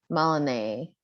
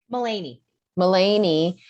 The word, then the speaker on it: Mullany: records are closed out maloney mulaney help me say your name so i don't say it wrong mullany yes your question please i have